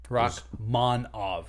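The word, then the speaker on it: Rakhmonov: It's Rakh. H. Silent H. Monov. Rachmanov. Monov.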